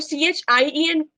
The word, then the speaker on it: chien: तो CHIEN को कैसे pronounce करेंगे हम?